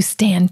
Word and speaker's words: stan: You stand Toy Story. I stand for Toy Story. You said it wrong. I stand Toy Story? No, it's not stand. I stan.